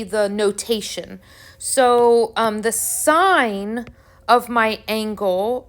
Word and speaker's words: sine: notation so um the sine of my angle is written s i n but still pronounced sine the cosine is written